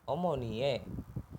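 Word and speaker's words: 어머니의: lanjut ke kalimat kedua omonie ini dibacanya e omonie kalau untuk partikel itu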